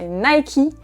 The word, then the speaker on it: Nike: populaire en France que si vous dites à un Français Nike, il ne va pas comprendre du tout qu'il s'agit de cette marque. Au contraire, il va sûrement vous dire que vous avez tort et qu'on prononce cette marque Nike.